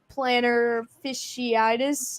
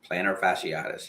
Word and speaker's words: plantar fasciitis: a defensive tackle with a planner fasciitis is that how do you say that plantar fasciitis yes fasciitis yeah they lost